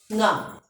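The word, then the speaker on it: ङ: nga. It will read as nga. Which way it's pronouncing?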